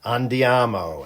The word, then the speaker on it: andiamo: Andiamo. And yes, that is the correct Italian pronunciation.